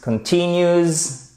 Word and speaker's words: continues: The virus continues. Qu'est-ce qui se passe ici? On a notre accent tonique sur la deuxième syllabe, la seconde syllabe même. Continues to spread rapidly. Et là, c'est sur la première.